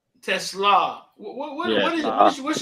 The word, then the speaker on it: Teslaa: my Instagram is isaac.tesla is how do you pronounce it Tesla Tesla what what is it what's your background where